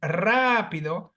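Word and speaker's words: rápido: has three syllables and because the phonetic accentuation falls on the third syllable before the end Rapido I must write the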